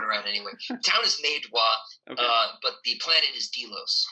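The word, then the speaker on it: Meidua: Medwa is the town. The town. Oh, I'm sorry. Yeah, it's okay. There's too many names thrown around anyway. The town is Medwa, but the planet is Delos.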